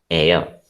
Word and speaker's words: heir: HEIR is pronounced as air. So what will you use here? An air. So it is an air to the, okay. Thank you for the responses. Yes, H is silent.